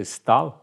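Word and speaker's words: Staël: stal madame de Stael mas pronúncia stal madame de stal eh era um era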